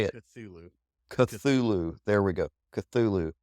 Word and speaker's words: Cthulhu: It's a harder C and then a softer T and H, almost as if your lips and tongue are maybe not altogether solid.